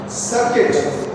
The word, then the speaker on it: circuit: Circuit. Like biscuit.